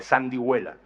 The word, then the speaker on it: sandihuela: pronunciación con una sonora suave G, como suele ser habitual cuando precede al ditongo pue. Es muy difícil decir huevo. Para decir huevo es casi imposible. Se introduce una gutural, una G suavita, y ya si lo hacemos descarado, se dice huevo, ¿no? Pero nadie escribe huevo con G inicial, sino con H, ¿no? Bueno, pues antes del ditongo hue, ahí, por eso hay esa G sonora y suave, sandihuela.